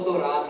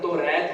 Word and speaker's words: تورات: کتاب نازل ہوئی تورات۔ یہ اس کا جو صحیح تلفظ ہے وہ تورات ہے، اکثر ہم توریت بھی پڑھتے ہیں، قرآن میں تورات کا لفظ استعمال ہوا ہے تو بہتر ہے کہ اسے تورات ہی پڑھا جائے۔ اس کے بعد ہے